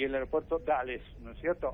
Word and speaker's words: Dulles: El aeropuerto Reagan y el aeropuerto Dulles, ¿no es cierto? O Dallas, se escribe D-U-L-L-S.